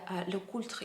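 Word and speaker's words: LeCoultre: uh swiss watch brand apparently you pronounce this brand name in a french way and uh in in the le cultra you have to pronounce l t and r french r sounds uh however i watched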